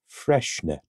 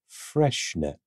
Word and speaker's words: Freixenet: It is pronounced Freixenet. Freixenet.